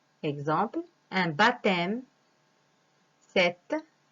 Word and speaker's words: baptême: Exemple, un baptême, cette, compter. D'un H, le bonheur, une silhouette, un bonhomme. Alors, comme vous voyez, ces lettres écrites en vert, on ne les prononce pas. Ce sont des lettres muettes.